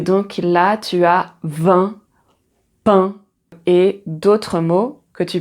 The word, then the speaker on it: pain: Et donc là, tu as 20 pain et d'autres mots que tu peux écrire avec